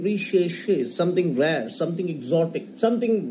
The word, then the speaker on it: recherché: It could be something re-she-she. See, it's spelled as R-E-C-H-E-R-C-H-E, something recherché, something rare, something exotic,